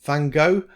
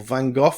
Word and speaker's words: Van Gogh: And originally, I thought I might do painting in the style of Van Gogh or Van Gogh, depending how you want to pronounce it.